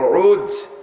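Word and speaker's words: عوج: সবচেয়ে বড় জোয়ানের নাম হল উজ ইবনে নাম কি যারে আপনারা চেনেন সংক্ষেপ নামে উসপহলান শুনছেন না এর আরবিতে উচ্চারণ হল আইন জিম উজ বাপের নাম উনু মার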